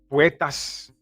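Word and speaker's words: Puertas: Puetas, that's how you say it.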